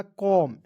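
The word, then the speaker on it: comb: है जैसे सीओम बी तो इसमें देखिए एम बी एक साथ आया तो इसमें बी को साइलेंट कर लीजिएगा तो सीओ एमडी क्या हो जाएगा कॉम देखिए सी का उच्चारण क के रूप में कीजिएगा एम का उच्चारण म के रूप में करेंगे और दो कंसोनेंट के बीच में जब ओ दिखता है ना जी उसका उच्चारण औ के रूप में करते हैं ठीक है तो क्या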